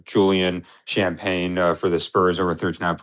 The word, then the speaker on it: Champagnie: is uh Julian uh Champagne. Uh oh no, Champagne is a Champagnie. Is that how you say his name?